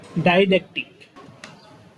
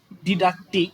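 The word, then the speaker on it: didactic: মানে আমেরিকান আর ব্রিটিশ এই দুইটার মধ্যে দুইটার উচ্চারণ দুই রকম আসছে আর কি। হ্যাঁ, অতএব আমি ব্যক্তিগতভাবে সাজেস্ট করব ডিডাকটিক এই ওয়ার্ডটাই ইউজ করা বেটার।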